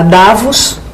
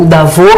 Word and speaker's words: Davos: Os jornais falaram que ela foi a Davos, né? Ou Davos, que é a pronúncia correta, porque é francês, né?